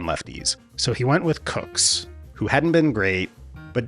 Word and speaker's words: Kucks: They'd get cuxed by little-known Yankees hurler Johnny Cucks, who would completely shut down the Dodgers' offense. Okay, it's actually pronounced Cooks.